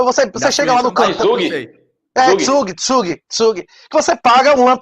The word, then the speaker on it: Zug: Como é que se pronuncia em alemão? Que tem o Crypto Valley. Lá você chega lá no canto. Tsug.